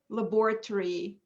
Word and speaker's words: laboratory: short laboratory laboratory so the o in the british accent at the end before the r and y is not pronounced it is very very weak so you don't say ori you say uri laboratory and kayla said laboratory